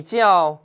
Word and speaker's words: 叫: 叫 몇 성이죠? 사성이죠. 叫.